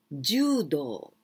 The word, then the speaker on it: judo: Second martial art, judo. Judo. Long sound with u.Judo, and with this kanji.